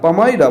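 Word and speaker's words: palmyra: bundle of পামাইরা leaves এই enter কিন্তু উচ্চারণ হয় না পামাইরা বলবে পাম কথাটা তাল তাল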